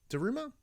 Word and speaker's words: Daruma: So this is a Daruma. Daruma? That's how you pronounce it.